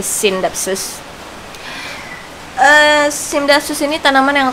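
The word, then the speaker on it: Scindapsus: baru aja dikasih tahu kalau bacanya bukan skindapsus tapi sindapsus Eh sapsus ini tanaman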